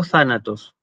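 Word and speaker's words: θάνατος: Pero en griego clásico, aparentemente, lo que pasaba era que en la sílaba donde llevaba el acento, es decir, en tha, el tono se elevaba y volvía, digamos, a bajar en la sílaba siguiente, de manera que yo decía thanatos, thanatos.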